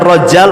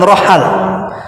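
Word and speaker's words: Rajjal: Ada yang membacanya rajal, ada yang ada yang ada yang Ibnu Katsir menyebutnya rajal, tapi ada juga mengatakan Rohal.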